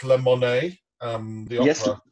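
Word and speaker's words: La Monnaie: do two years in Brussels with is it pronounced lemon um the Opera leemon yeah two years as music director there um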